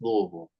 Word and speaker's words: Louisville: regard so they refer it to as they pronounce it as Louisville yeah so but I was out in Lexington which is an hour and a half drive so I do go to Louisville from time to time because I got friends